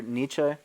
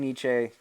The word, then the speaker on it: Nietzsche: Nietzsche quote Frederick if some people saying Nietzsche but some people say Nietzsche you know it depends the the German it's not an easy word to pronounce but if you sing Nietzsche or Nietzsche as the common American pronunciation is you're fine but I think in the German that's Nietzsche alright the quote is he